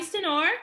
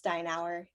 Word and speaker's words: Steinauer: so today i have senor is that how you say your last name it's steinauer it's time now oh okay okay that's fancy all right so it's commonly mispronounced okay all right so